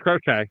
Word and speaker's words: Crochet: I hope it's Crochet because I don't want to pronounce it the other way. No, it's Crochet.